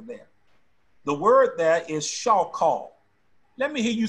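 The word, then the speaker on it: shachah: Let me give you phonetic spelling of it so you know how to pronounce it. S-H-A-W dash K-H-A-W hyphen.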